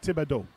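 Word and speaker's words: Thibault: good cuz even though my last name is in this case serious it's pronounced tibo perfect yeah and I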